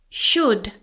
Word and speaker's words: should: Should silent L. You should study. This goes the same for would and could. They all have a silent L.